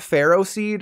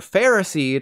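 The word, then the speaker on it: Ferroseed: Anyways, these are not pharaoh seed and pharaoh thorn. They are pharaoh seed and pharaoh thorn. The Pokemon Company sure does like to make an O sound like an ah, don't they?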